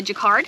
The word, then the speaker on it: Jacquard: fiber or acid dyes i usually use the jacquard because that's how you say it approximately one